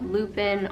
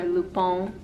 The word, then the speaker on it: Lupin: season and it is called lupin or lupone if you want to say it correctly it's a french show